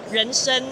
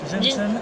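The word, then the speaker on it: 人参: In Chinese, that means renshen, but. Renshen. Okay. Yeah, renshen. Like mensch, ren.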